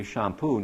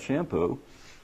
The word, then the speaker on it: Champoux: And I want people to pronounce my French name correctly, Champoux, not Shampoo.